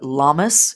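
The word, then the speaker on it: Lammas: the next upcoming Sabbath lunasad or lunasa or llamas it is uh called and pronounced all of these different ways and things um that'll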